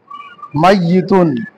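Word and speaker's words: مَيِّتٌ: আর একটা আছে মাইয়িতুন, এখানে মিম জবর মাইয়ি, মাইয়িতুন একসাথে হবে মিম ইয়া তা, মিম জবর ইয়াই তাসদিদ জের তা দুই পেশ তুন, কি হবে? মাইয়িতুন।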